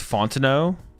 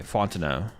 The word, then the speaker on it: Fontenot: It's Fontenot. You don't pronounce the last T. Okay, Fontenot.